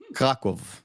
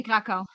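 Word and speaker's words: Kraków: Krakow. When you see a W, you pronounce it as V. It's an American thing. It's like in German. Yeah, in German they say Krakow.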